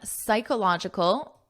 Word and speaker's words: psychological: The American Psychological, notice the pronunciation, this P is silent, psych, and this is a K sound, psychological.